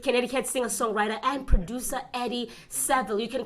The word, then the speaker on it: Saville: And he is working with Connecticut singer-songwriter and producer Eddie Saville. You can correct me if I pronounce his name wrong there. Eddie Saville. Saville, all right, at Cottage Sound Studios in Middlebury.